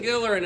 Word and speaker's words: Gillerin: Yeah, I'm here with Gillerin and Robin Gillerin. Hey, that's me, and that's her. I'm What's the name of your Hard G. Hard G. Hard G. Gillerin is with a hard G.